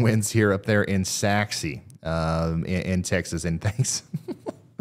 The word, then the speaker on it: Sachse: Ryan I'm also Ryan it's sassy not sorry thanks brother I love